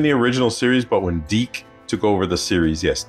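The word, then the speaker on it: DiC: So he wasn't in the original series, but when Deke took over the series, yes, Deke, that's the way it's pronounced, he was in there.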